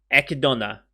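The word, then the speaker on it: Echidna: I said once more just so I know I'm getting it right eka Donna I could do eka Donna that's how they pronounce it okay Donna better as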